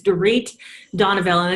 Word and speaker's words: Dorit Donoviel: Houston Texas and I'll start by correcting my pronunciation of my name is tarik Donna Belen it's okay everybody slaughters it so it's just